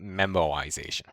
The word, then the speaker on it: memoization: called tabulation and memoization and no i do not spell memorization um it just doesn't include an r so it's pronounced memoization all right so that's